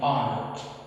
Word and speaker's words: honor: In this word, H is also silent. So we don't pronounce it. We pronounce O. Being polite is an honor. O is a vowel sound in here, and H is silent.